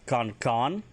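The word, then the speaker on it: kan'kann: If you want to talk about the big pews, it's a Kankan, KAN Betten, KANN, Kankan.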